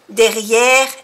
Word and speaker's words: derrière: Il y a un jardin derrière l'immeuble. Il y a un jardin. Jardin. I-N, una vocal nasal que se pronuncia en. Jardin. Derrière, quiere decir detrás, derrière. No se pronuncia la E final. Derrière.